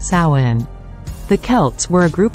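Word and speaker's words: Samhain: ago to the ancient Celtic Festival of Sinn pronounced Sinn the Kelts were a group of people who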